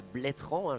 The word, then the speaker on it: Bletterans: suis arrivé ici à bletterans je ne prononce plus le e on m'a dit tu